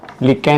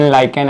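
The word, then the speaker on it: lichen: लिकेन, लाइकेन अलग अलग लोग प्रोनाउंस करते हैं।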